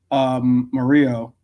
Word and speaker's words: Murillo: It's spelled Murillo, but I believe, Mario, yeah. but it's supposed to be when you have a double L, it's it's pronounced with like a Y. So Mario.